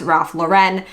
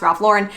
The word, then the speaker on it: Ralph Lauren: There's a big misconception that it's pronounced Ralph Lauren but he is an American he is an American designer. It is pronounced Ralph Lauren.